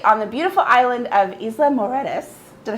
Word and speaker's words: Isla Mujeres: i am actually on the beautiful island of isla moredas did i say it right oh see there